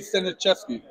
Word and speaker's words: Staniszewski: It should be pronounced Staniszewski in Poland because he's half Polish, half American. I know he pronounces it Staniszewski. Staniszewski, yeah. But yeah, it's his surname. In Poland, we would read it Staniszewski.